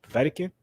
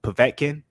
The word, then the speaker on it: Povetkin: losses parker anthony joshua vatican or as a lot of people used to correct me povetkin i remember that some